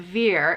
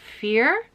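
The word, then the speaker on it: Vier: get it right so the v is pronounced like an f so instead of veer it's fear okay i think i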